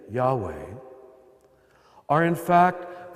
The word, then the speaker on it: Yahweh: of the sacred name Yahweh are in fact the only consonants that if correctly pronounced do not allow you to use your tongue or close your lips in fact we know